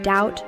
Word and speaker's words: doubt: Other examples include the B in doubt or thumb, and the W in right.